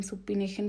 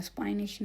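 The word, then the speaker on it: supination: इसकी प्रोनाउंसिएशन सुपिनेशन भी कुछ लोग बोलते हैं, सुपाइनेशन भी बोलते हैं, ठीक है।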